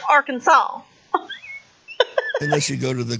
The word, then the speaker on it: Arkansas: kansas yeah i think some people call it our kansas or something but it's arkansas well no it's spelled our kansas i know but it's pronounced arkansas unless you go to the galapagos yay don't